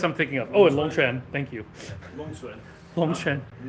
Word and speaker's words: Longquan: Well, it's a Longquan. It's a sound that does not exist in English, so it's kind of hard.